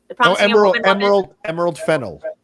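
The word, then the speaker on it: Emerald Fennell: This Esmeralda, how do you pronounce her last name? Esmeralda, Emerald Fennel.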